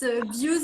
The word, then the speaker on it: Bew: No, it's Bew's interview.